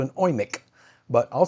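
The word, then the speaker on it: Eumig: I call it a UMIG, but I know us Americans are pronouncing it wrong. It's actually called an OIMIC, but I'll say UMIG.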